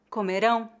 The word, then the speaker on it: comerão: é exatamente a mesma A única diferença de pronúncia entre as palavras comeram e comerão é a sílaba tônica vamos passar ao último